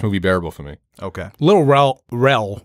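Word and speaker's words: Lil Rel: Little Rel, right?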